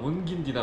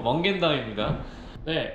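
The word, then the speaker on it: Mungindi: 뭐 영어 상어로는 문긴디나 문진디로 발음을 해야 되는데 여기서 그런 식으로 말하면네 아주 안 좋게 온다고 합니다. 그래서 조심하시고 먼겐다입니다.네 여기 주변에는 정말 아무것도 없어요.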